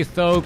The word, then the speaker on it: Th000: All right, Keeper of the Grove sitting at level 2, trying to get to level 3, may end up catching a Huntress, and instead of chasing, gonna go straight after the base.